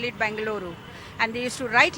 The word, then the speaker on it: Bengaluru: I say bang bangaluru that the the correct pronunciation is bangaluru Bengaluru that is the correct pronunciation so when we